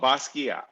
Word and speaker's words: Basquiat: last name basquiat oh basquiat oh wait no t yeah so it's like b-a-s-k-e-e-a yeah that's how you would pronounce it yeah okay so um